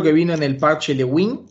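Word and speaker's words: Le Guin: vino en el parche le Win o sea lein se pronuncia como la escritora uno en el juego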